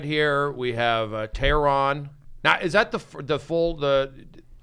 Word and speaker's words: Tehran: Well, the concept is it's Persian, so it's actually Tehran, right? Tehran.